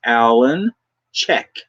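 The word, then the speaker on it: Alan Cech: it's spelled a-l-a-n-c-e-c-h and the correct pronunciation make sure you don't get this wrong is alan check as in checky as in check things out as in check into this as in check into that you got it dan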